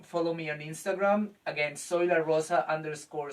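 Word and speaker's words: Zoila: name is uh i go like dj soy la rosa soy la rosa is spelled z o i l a if you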